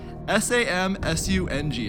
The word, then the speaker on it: Samsung: a brand which actually have one of these s am su ng how do you say it some soon hey